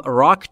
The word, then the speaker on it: rock: بچه ها در مورد تلفظ R در rock قبلا گفته بودیم و باز هم تکرار میکنیم. وقتی که میخواید R رو در انگلیسی کلن تلفظ بکنید زبونتون جمع میشه نزدیک به سقف دهان.